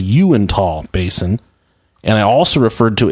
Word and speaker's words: Uintah: But the actual correct pronunciation is Uintah Basin, and I also referred to a Navajo reservation there in Utah, and they're just called Utes.